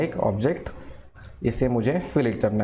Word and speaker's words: fillet: इसी को हम क्या बोलते हैं, फिल इट बोलते हैं। क्या बोलते हैं, फिल इट।